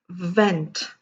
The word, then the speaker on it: vent: Now let me give you a few other examples with the pronunciation of V. This is, excuse me, vent, and this is went. See the change in my lip. See the pronunciation of my lip. Vent, went.